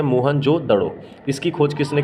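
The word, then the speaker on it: मोहनजोदड़ो: मोहन जोदड़ो तो मोहन जोदड़ो शब्द का सही उच्चारण है मोहन जोदड़ो इसकी खोज किसने की थी राखल दास बैनर्जी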